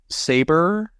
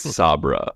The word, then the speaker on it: Sabra: um Irene dun as saber Sabra how do you say her name I think it's Sabra like humus yeah Sabra Kat his